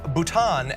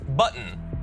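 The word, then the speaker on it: Bhutan: to call nipple he also pronounce भूटान एस बटन भूटान का बटन बना दिया ये मैंने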